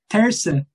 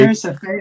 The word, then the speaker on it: terça: Terça. Terça. Oh, it's kind of like. Terça-feira.